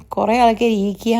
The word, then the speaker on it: IKEA: 'ഇ-കീ-എ' അല്ല, അത് ' ഐ-കീ-എ' ആണ്" എന്ന് പറഞ്ഞു. സത്യം പറഞ്ഞാൽ, ഗൂഗിളിൽ തിരഞ്ഞാൽ, ബ്രിട്ടീഷ്, അമേരിക്കൻ ഉച്ചാരണങ്ങൾ വ്യത്യസ്തമാണ്; പലരും "ഐ-കീ-എ" എന്നും പലരും " ഈ-കീ-എ" എന്നും പറയുന്നു. നിങ്ങൾക്ക് എങ്ങനെ വേണമെങ്കിലും പറയാം. എന്തായാലും, ഞാൻ സാധാരണയായി "ഐ-കീ-എ" എന്നാണ്